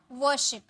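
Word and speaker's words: worship: पूजा वर्शिप, यहाँ भी are silent होता है, वर्शिप, वर्शिप, ठीक है।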